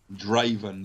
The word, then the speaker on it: Draven: Draven, like Draven. Raven with a D in front of it, Draven. Oh, that's awesome.